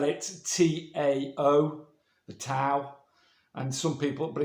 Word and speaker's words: Tao: Some people spell it T-A-O, the Tao. And some people, but it's said Tao, and some people spell it D-A-O.